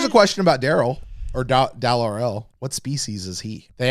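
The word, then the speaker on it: Dal R'El: gone I only saw Daryl's yeah well now let's say his name correctly it's Dal RL Dal RL Dal is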